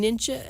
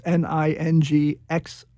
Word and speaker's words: Ningxia: Oh, you're saying ninja? How do you spell that? Ningxia. It's Ningxia.